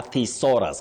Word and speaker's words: thesaurus: That book is called a thesaurus. Can I have that thesaurus, please? Not thesaurus. Not thesaurus. No. Sao. No. So yes. The no. Yes. Thesaurus.